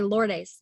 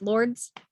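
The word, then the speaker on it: Lourdes: wrong this whole time i always say lord ace but it's lords it's just lords yeah lords oh my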